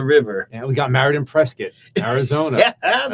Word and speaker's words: Prescott: we got married in Prescot Arizona and I said it right I didn't say Prescott I said presc hey it's all right